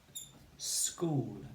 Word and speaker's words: school: The word is school. Okay, and we say sk. school. And the CH, of course, is the K spelling, isn't it? 2 letters, but just one sound.